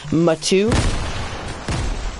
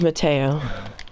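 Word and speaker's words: Matteo: and then he goes, Matu. It's spelled M-A-T-T-E-O. No, my name's Mateo.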